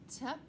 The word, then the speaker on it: type: Over here, type, silent E. Type, like when you type on a computer or a certain type of book. So if you see that Y with a silent E, try to remember that it makes the long I sound, I.